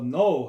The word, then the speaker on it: know: 그 다음에 알다 할 때 no, K는 묵음이라고 묵살 때는 뭐 자음이니까 무거움 소리가 안 나죠. 그래서 W가 O 이렇게 돼가지고 know, 알다 이런 뜻이죠.